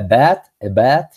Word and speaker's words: bat: Listen, when you read the A, you don't have to pronounce, o sea, no puedes hacer que sea una E completamente. Recuerda que esa A es una A tirando a E, pero no es una E completa. Es a bat with a round or oval frame.